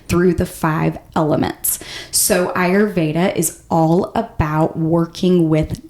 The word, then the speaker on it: Ayurveda: So Ayurveda is the proper way to pronounce it.